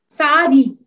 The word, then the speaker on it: sari: the sorry he says the sari pronounced sari with an accent with the accent on the a is the national costume